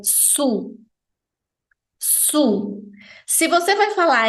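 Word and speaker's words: sous: e a diferença entre elas a nível de pronúncia é Sutil se você vai falar emb baixo é su su se você vai falar em cima é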